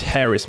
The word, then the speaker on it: Harris: Hey brother, it's Harris man, you need to pronounce the H.